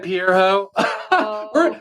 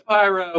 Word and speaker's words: Pyro: All right, Pierre Ho. We know it's pyro, but yeah, no, we're just gonna call you.